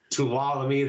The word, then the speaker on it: Tuolumne: Got the February show, and I cannot pronounce the name of that town. Tuolumne. Tuolumne, thank you.